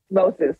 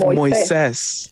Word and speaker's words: Moises: Which is an interesting, it's an interesting dynamic because the actual pronunciation is Moses. Moses, yeah. But these days I'm actually more comfortable with Moises.